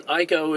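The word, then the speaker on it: Eiko: and then um um Ico is the uh I think that's how you pronounce her name is the costume designer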